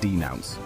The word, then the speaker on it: denounce: they are denouncing inequality we pronounce it as denounce with the stress on the second syllable you can use it